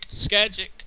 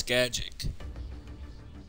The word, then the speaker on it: Scagic: Skagic.